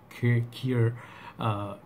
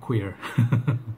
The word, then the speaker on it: Cuir: I saw Sebastian Zara try to pronounce, teach us how to say Cuir. It's not queer.